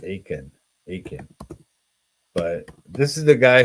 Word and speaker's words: Achan: His name is Akan, I think, or sometimes they pronounce it Achan.